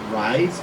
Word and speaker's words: RISE: safe schools committee and we pronounce that rise because we will rise from this we're proactive and we